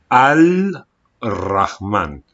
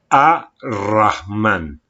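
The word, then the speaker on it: الرحمن: me interesan muy poco te dicen que no se pronuncia este lam que tú tienes que decir a rahman vale por ejemplo cuando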